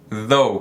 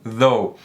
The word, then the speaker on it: though: Significa porém, no entanto, então though. E como eu falei, o TH tem duas pronúncias. A segunda pronúncia é com um som mais vibrado, como se fosse um D vibrando.